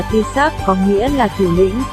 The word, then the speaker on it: Taoiseach: Người đứng đầu nhà nước, người đứng đầu chính phủ là Taoiseach, phát âm là Taoiseach, có nghĩa là thủ lĩnh.